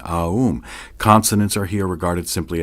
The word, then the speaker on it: Aum: You start in the back of the mouth, ah, and then oo. You fill the mouth, and closes the mouth. When you pronounce this properly, all vowel sounds are included in the pronunciation, Aum.